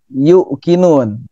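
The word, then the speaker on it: يوقنون: Nah, di sini sering keliru terjadi yuqinun. Ini panjang. Yuqinun, bukan yuqinun tapi yuqinun, yu-nya panjang.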